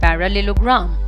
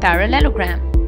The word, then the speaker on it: parallelogram: pronunciation of it by breaking it into three parts para Lelo and gram parallelogram so the correct pronunciation of the world is parallelogram ellipsoid is a three-dimensional